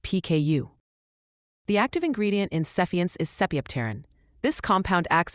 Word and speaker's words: Sephience: Sephiants pronounced suffiance is a prescription medication.